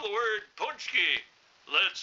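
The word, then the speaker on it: pączki: word punch key let's spell it now p a c z k i punch key now how the hell you get punch key on a p a c zki that should be pesky or ponsky now we're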